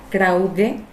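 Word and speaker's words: κραυγή: La palabra clamor en el griego se pronuncia krauge y significa gritos ruidosos,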